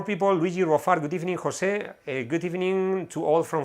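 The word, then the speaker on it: José: It's in Spanish it's said the J is pronounced more or less like an H. So if you want to pronounce my name in speaking in English, you can put an H, H-O-S-E, Jose. It would sound more or less like that.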